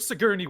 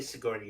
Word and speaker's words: Sigourney: She wanted to be in an Alien movie with Sigourney Weaver. That's all she wanted. And congrats to her, but the problem is her character is kind of whiny. Say Sigourney again. That's funny. Sigourney.